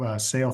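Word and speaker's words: Saol: so we're um we're the most mispronounced name in Pharmaceuticals I think but sale Therapeutics it means life in gaic so it's a Gaelic word um and so we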